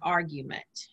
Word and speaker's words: argument: tennessee it's it's pronounced argument argument okay argument the accent is on the first uh the first two letters okay on the ar and one thing that